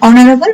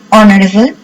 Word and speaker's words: honorable: Honest, honorable, silent H.